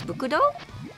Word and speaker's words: BCD: And I know his name is spelled BCD, but I believe like how we read it in Japanese is Bukudo?